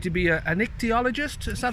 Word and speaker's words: ichthyologist: a vet, or I'd like to be an ichthyologist. Is that how you pronounce it?